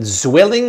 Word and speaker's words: Zwilling: Somebody once told us swilling. But then I thought the German said, no, it's not swilling, it's zwilling. Did you talk to a German? If you're German, is it zwilling or swilling?